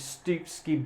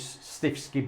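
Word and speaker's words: Stiffkey: And then it's Stupski Blue, I believe you might pronounce it, on all the dado area, which is Stifsky Blue to the ordinary man in the street.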